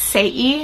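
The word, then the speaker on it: Saie: to pronounce this brand i think it's say e it's s-a-i-e and this is the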